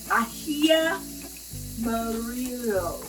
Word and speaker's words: ají amarillo: And I'm going to add the ají amarillo.